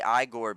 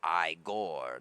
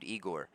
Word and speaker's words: Igor: The only re Some people say Igore because of uh Young Frankenstein, the Mel Brooks film where he's like Iore, not Eigor. But most people I've met are named Eigore.